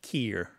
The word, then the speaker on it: care: Another thing to point out about this is that the care is often pronounced keer. I don't care. Yeah. Like that. Mm-hmm. And that's a real lovely local way of saying care.